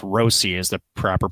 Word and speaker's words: Rossi: to is it it's Rosie right remember it's Rosie is the proper pronunci uh pronunciation but right we're talking about